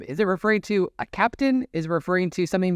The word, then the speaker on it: Keptn: production uh cluster and I think Captain you know also as it's um as it's spelled is the German fonetic of the way you pronounce captain in German if people want to